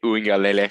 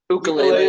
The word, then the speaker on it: Uiagalelei: DJ Uiagalelei. Ukulele, as Connor said last week.